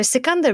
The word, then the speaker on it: Sikandar: And Sikandar is like, whoever wins is Sikandar, which is how you say Alexander's name.